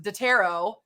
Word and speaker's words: Dataro: founder and co-founder of what is pronounced Dataro. And I think I'm going to call it Dataro from now on because of the accent that you're about to hear.